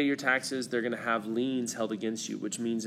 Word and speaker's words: lien: have what's called tax liens okay and this is spelled il ie in S but it said like lien like you're leaning to the side and that's if you